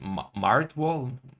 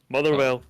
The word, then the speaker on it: Motherwell: pronounced? Martwall? Marywall? You're so close. Is that it? It is, yeah. Oh, Motherwell. Motherwell.